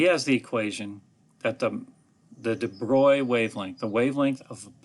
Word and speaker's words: de Broglie: He's French, so it's de Broglie, or however the French might pronounce that. I say de Broglie, which a lot of people do. But he came along and